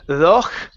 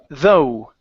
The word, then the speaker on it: though: Instead of thoch, okay, the GH is silent. Okay, the word is though.